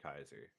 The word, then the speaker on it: Caesar: In in Fallout New Vegas, because they don't know how it's pronounced, they call him Kaiser. Yeah. And actually in the original language that is how it's pronounced.